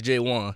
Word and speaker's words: Jaewon: Jaewon? Yeah. It's spelled J1, but it's Jaewon.